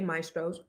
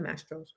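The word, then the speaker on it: Mastro's: So, I just want to tell anonymous the waitress didn't say maestros, she said mastros.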